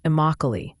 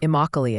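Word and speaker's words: Immokalee: am I saying that right close Ryan it's pronounced imoc an agricultural Hub that's exactly how I said it that's how I said I was right oh my bad Ryan you nailed it then imoc it is it's always good to double check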